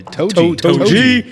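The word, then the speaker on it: 杜氏: Is that how you pronounce it? Toji? Yeah. Toji.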